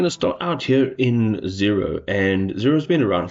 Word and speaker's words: Xero: have a look at zero spelled with an X and we're also going